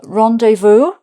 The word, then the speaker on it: rendezvous: Uh rendevu. That's quite French sounding. Rendevu is the same pronunciation in French.